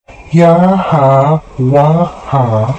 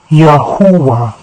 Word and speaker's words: Yahuah: Ya plus U plus A makes Yahuah. Let's recap. Yahuah is pronounced as Yahuah.